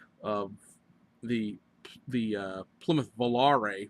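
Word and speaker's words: Volaré: I always pronounce it valer so it's Valar it has it has actually has a little thing on the E I was watching some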